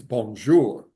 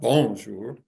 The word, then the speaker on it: bonjour: In French, it's the last syllable. It's bonjour, right? It's not bonjour, unless you're trying to convey a different message.